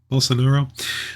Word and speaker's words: Bolsonaro: Brazilian authorities are investigating whether Javier Bolsonaro, how do you pronounce his name? Bolsonaro.